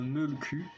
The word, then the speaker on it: mölkky: dit français parce que dans sa langue d'origine ça s'appelle le mölkky qui du coup ne donne pas du tout la même prononciation entre mölkky les môles